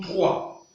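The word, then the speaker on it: trois: Au niveau de 3, le S, on ne prononce pas le S. Voilà pourquoi il sonne 3.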